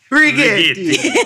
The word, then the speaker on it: Rigetti: I think you're not saying it right. Rigetti. It's like Inglourious Bastards.